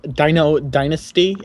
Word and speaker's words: Dino Dynasty: Um, my name is Dino Dynasty, as in dinosaur and then duck dynasty. The combination of those two.